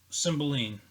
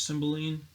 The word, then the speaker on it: Cymbeline: Of course, the Shakespearean play is Cymbeline. I believe that's how you pronounce it.